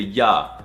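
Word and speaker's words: Я: This blatant disrespect for the American R is actually the ya sound.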